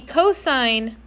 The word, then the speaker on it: cosine: The cosine function which is spelled co o s of theta and if you say cos theta you owe me a book is x over the radius r.